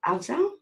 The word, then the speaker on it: Afzal: Afzal? Is that how you say it? Yeah, that's correct. That's correct.